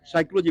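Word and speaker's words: psychology: जैसे हम साइकोलॉजी बोलते हैं तो पी साइलिट हो जाता है।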